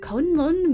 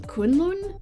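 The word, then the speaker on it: Kunlun: up the slopes of conun mountain I might have pronounced that wrong kunon I think kunon is what that should have been kunon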